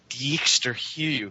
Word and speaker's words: Dijksterhuis: And there's even some good research by a fellow named Dijkster Hugh that I learned how to pronounce his name, but it's spelled Dijksterhuis, I think is how you spell his name, which that there's this